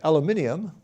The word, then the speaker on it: aluminum: one calcium plus two aluminum or as the brits say aluminium plus three and silicon